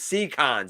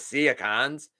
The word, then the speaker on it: Seacons: issue when people say oh seacons yes it's c cons it's not seacons they're the seconds uh i want a tigertron